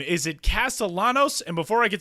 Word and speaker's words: Castellanos: But anyway, when he made it to the major leagues, everybody's calling him Castellanos. So I felt so bad because I was like, man, I called this dude by the wrong pronunciation of his last name.